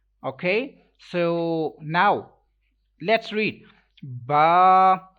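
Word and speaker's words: ب: so now let's read ba i can't read this letter like b b is wrong totally wrong that is not arabic accent if you want to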